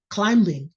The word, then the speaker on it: climbing: saying coming coming coming climbing and they said no if a b comes after an m is silent you can't say oh